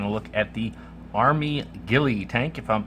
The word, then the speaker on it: Gille: m and this is the Ghillie at least that's how I'm pronouncing it Gilly tank um very Innovative